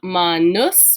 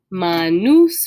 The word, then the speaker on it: manus: singular and the plural it's really just a long u versus a short e and a very slight difference in pronunciation so manus with an uh short u sound is going to be hand manus with more of that long u sound is hands plural so this is one